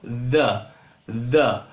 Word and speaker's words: the: Geralmente você vai pronunciar como the. Esse TH no inglês, ele vai ter um som, uma mistura de D com Z, sabe? E vai ficar uma coisa meio the, certo?